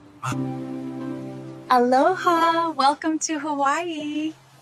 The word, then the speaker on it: aloha: In Hawaii, aloha can mean hello, goodbye, love, and peace.